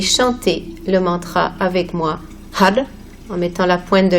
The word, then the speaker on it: Har: Nous allons utiliser le mantra Har, H-A-R, qui va se prononcer avec la pointe de langue au palais, ce qui signifie que le son va peut-être sonner comme quelque chose Har, Har, donc peut-être comme un D, puisque nous avons notre langue au palais.